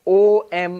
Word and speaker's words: Om: But luckily fortunately when you write it as O m in English that's actually the correct pronunciation.